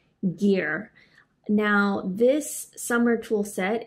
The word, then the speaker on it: GIR: get it right and I believe they like to pronounce their name as gear now this summer tool